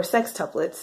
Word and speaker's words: sextuplets: It is based off of the life of six mischievous children who are all identical, sextuplets even, or sextuplets as it's properly pronounced.